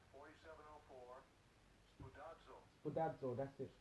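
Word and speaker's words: σπουδάζω: Spudazzo. Spudazzo, that's it. Spudazzo. Spudazzo. That's the pronunciation.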